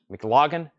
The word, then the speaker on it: McLaughlin: It says Ian McLaughlin. I think that's how you say his name. I don't think it's Lagan. McLaughlin, which is the keyboard player.